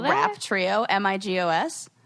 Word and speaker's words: Migos: Rap trio, Migos. Oh, it really is like Amigo.